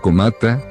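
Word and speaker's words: 困った: Pero el verdadero hecho está en el segundo conjunto de dos caracteres kanji, que se puede pronunciar como komata, que significa estar en una situación difícil.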